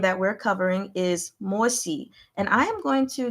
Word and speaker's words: Mo Xi: You can just say SH, she, if you want.